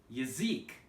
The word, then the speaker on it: язык: So, for example, we have the word yazik, yazik.